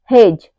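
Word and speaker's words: hedge: हमारा D silent है ऐसे ही हेज हेज में भी क्या है डी के बाद जी आया हु है तो यहां पे हमारा डी साइलेंट है वैसे ही अगला है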